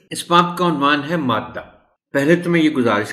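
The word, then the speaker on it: مادّہ: گزارش کر دوں کہ اس لفظ کا تلفظ ادا کرتے ہوئے ذرا سی احتیاط درکار ہے۔ اس لفظ کے دال کو شد کے بغیر نہیں لکھا جانا چاہیے، اور ظاہر ہے نہیں پڑھا جانا چاہیے شد کی آواز کے بغیر۔ وجہ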